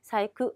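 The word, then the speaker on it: 細工: 가코, 가고, 사이크, 세공입니다. 공자가 쿠를 익히는 세공은요.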